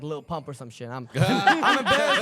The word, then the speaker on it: Lil Pump: My birthday I shared with like Lil Pump or some shit. I'm embarrassed to tell people like Little Pimp, okay? That's how they pronounced him at a Trump rally.